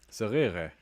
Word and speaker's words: صغيرة: صغيرة. Hi ukhti صغيرة. So he has the ra, and it's, the two eyes are just along the e sound, And it sounds like he says eh, but let's listen again.